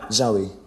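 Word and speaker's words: Zowie: Zoe.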